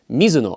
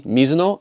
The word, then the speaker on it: Mizuno: In fact, Mizu is the same as Mizu, meaning water. So now you know it's technically actually Mizuno. But due to potential pronunciation issues or just westernizing or Americanizing different words, the same way many people say Adidas instead of Adidas, just know that the brand name is technically Mizuno, and I have confirmed